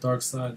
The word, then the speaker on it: Darkseid: Pronounced Dark Side, though, right? Yeah, Dark Side.